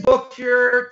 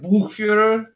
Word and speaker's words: Buchfuhrer: I say Buchfuhrer, to be honest. It's in German, I think it's more like Buchfuhrer.